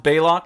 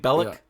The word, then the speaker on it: Bailo: ears bleed each week his name pronounced bailo you would think Bellic I called him Bellic a bunch of times belock yeah belock yeah uh that is